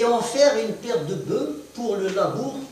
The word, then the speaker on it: bœufs: Prends un autre exemple, le labour avec une paire de bœuf, une paire de bœufs. On ne prononce pas le F.